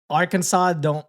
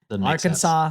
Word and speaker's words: Arkansas: I mean, Kansas, Arkansas they spell the same. They still don't pronounce it the same. But, oh, yeah. The SAS, the SAS. Arkansas, sense.